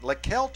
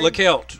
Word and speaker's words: Leckelt: Leckelt is how we're going to say his name. Leckelt. Leckelt, he is a freshman. We've heard it a couple different ways, but the last 2 games, 144 yards for the freshman, Charlie.